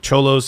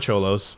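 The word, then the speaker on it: Xolos: the was it the the cholos actually have done it the last way they have a team called the cholos really they have a team show us yes it's spelled x0l oh s the Tijuana cholos that's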